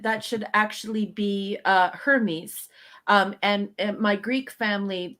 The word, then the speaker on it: Hermes: and uh when uh my family pronounced uh hermes uh basically you could almost not hear the h at all so it was like ernest so ernest is a